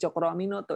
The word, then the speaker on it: Tjokroaminoto: H-nya itu Haji, O-nya itu Umar, karena pada saat itu kalau menulis menulis U itu harus dengan ejaan O dan E kan ya. Jadi kalau C itu T dan J.